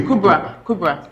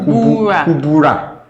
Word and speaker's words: Kubra: But the way they Kubra. It's Kubra. Yeah. But they pronounce it Kubura.